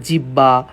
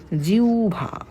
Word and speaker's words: জিহ্বা: কিন্তু অনেকে অনেক রকমের উচ্চারণ করে ভাই এই উচ্চারণটা একটু ভালো করে দেখো তোমরা ইন্টারমিডিয়েটের স্টুডেন্ট হ্যাঁ তোমরা আবার জিহ্বা জিহোবা এই টাইপের কথা বলো না অনেকে তো খাস বাংলা আমাদের ফরিদ অঞ্চলে বলে জিবলে এটারে বলে জিবলা তো এই খাস বাংলায় দরকার